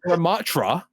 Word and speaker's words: Ramattra: As someone who before competitive mystery heroes had a combined 6 minutes on Ramartra, Ramartra? I say, you know what? Ramartra? I say Ramatra. That's his name, right? Ramattra.